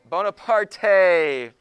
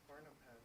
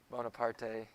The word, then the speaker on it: Bonaparte: It's pronounced Barnapad, isn't it? Yes, it is. I'm messing around. That's why I said that's not actually how it's said. No, that's why I said that's not how it's actually said.